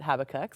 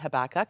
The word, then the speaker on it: Habakkuk: okay that's good um not everybody pronounces it habac some people say habak and I don't think that it matters all that much but what we do know